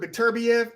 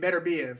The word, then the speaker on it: Beterbiev: I've heard Beterbiev and Beterbiev. I've heard two.